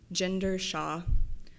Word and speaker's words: Ginder-Shaw: All right, I think I may have been the only one to pronounce Erin's last name correctly upon meeting. It's with a soft G, Ginder-Shaw.